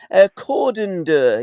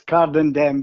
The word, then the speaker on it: Cardenden: Cordon-Dur, is that how you pronounce the area that you were born, Tommy? I was born, strangely enough, it comes under Cardenden. Got ya. It's Cardenden, but I was actually